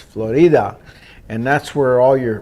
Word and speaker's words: Florida: called Florida spelled just like Florida but it's pronounced Florida and that's where all your big pharmaceutical company